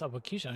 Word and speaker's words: Abokisha: Oh, it's pronounced Abokisha, not Aboki, Aboxia.